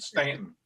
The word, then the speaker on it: Staunton: You know damn well these rednecks and hillbillies down there pronounce it Stanton.